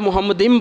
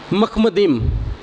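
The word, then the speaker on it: מחמדים: जो लफ्ज़ जिसे आप मोहम्मदिम पढ़ रहे हैं वो दुरुस्त तौर पे बोला करें, उसकी दुरुस्त प्रोनाउंसिएशन है मखमदिम। मखमदिम, वो मोहम्मदिम नहीं है, उसे मखमदिम बोला करें।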